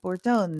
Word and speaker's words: Bortone: by the way uh it's actually more it's Italian oh okay and I'm Italian I should know that bortone let's do it sorry